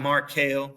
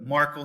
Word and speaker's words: Merkel: Not Markel, sorry, Kel, but Merkel, spelled the same way.